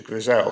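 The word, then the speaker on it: Grzelczyk: And the reference is to Grisel, because that's the correct pronunciation, paragraphs 42 and 43.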